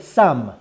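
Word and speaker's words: סם: But Samech Mem in Hebrew is read Sam. Sam means a drug.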